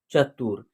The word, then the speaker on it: चतुर: simple तरीके से होगा चतुर में भी जो है ना यहां छोटी ऊ की मात्रा का प्रयोग हुआ है तो इसका उच्चारण होगा चतुर यानी सिंपल तरीके से